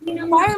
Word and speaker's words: fire: it's less okay yes fire must always rhyme with wire then again with rhyme